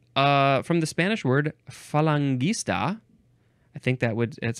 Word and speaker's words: Falangist: the next word is falangist or falangist I prefer falangist capital f a l